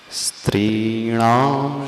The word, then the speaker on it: स्त्रीणां: पहले शब्द का उच्चारण करना स्त्री, त्रीणाम, आधा स है, दंती स है। स्त्रीणाम शतानि शतशो जनयन्ति पुत्रान्।